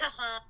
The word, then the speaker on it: Kahan: Kahan. Kahan.